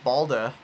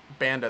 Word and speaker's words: Banda: They get Anthony Balda. I think that's how you pronounce his name. Tomorrow. And typically, I don't like... Banda, that's what it is.